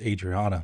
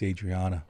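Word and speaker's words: Adrianna: It's Adriana, not Adriana, even though it's spelled A-D-R-I-A-N-N-A.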